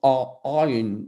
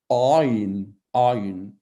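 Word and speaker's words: עין: prononcer moi-même parce que c'est une lettre qui se prononce Aïn avec la gorge. Donc, c'est une gutturale. Aïn, Aïn.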